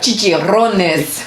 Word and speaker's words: chicharrones: So these are flavored chicharrones. Chicharrones. Okay, there you go. You're just like Aaron from... You have to roll your tongue. You have to roll your R's with Latin language.